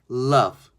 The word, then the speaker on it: loved: 자, 드 소리 드라고 하지 마시고요. 트를 아주 작게 loved.